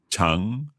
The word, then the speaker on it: 常: Chang, is that the one that goes down and then up? No, 长, second tone. Just going up. Just going up. Mm-hmm. Chang.